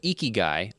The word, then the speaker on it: Ikigai: I love that I looked up how to pronounce this. But Ikigai, Ikigai.